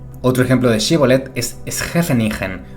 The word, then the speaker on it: Scheveningen: Otro ejemplo de shibboleth es Schefenigen usada por los neerlandeses también durante la Segunda Guerra Mundial para diferenciar a los alemanes, ya que en alemán se pronunciaría algo así como Scheveningen.